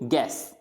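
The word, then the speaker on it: guess: फिर गैस, तो गैस में भी यू साइलेंट रहेगा।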